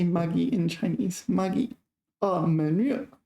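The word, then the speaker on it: 闷热: 闷热. Okay, here 闷 is first tone. Here 闷 is fourth tone.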